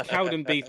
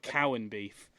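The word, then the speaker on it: Cowdenbeath: said strand rear and it's Cowden beef not Cowan beef cow and beef no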